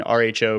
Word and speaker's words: rho: greek letter r written rho pronounced row the middle the second